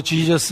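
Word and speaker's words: Jesus: 담아 놓으셨다 라고 이야기합니다 예수 라는 표현 자체가 영어로 지져스 라고 발음 되지만 헬라의 발음을 따서 아 예수라는 이름의 사용을 한다 그런데 이 헬라의 여섯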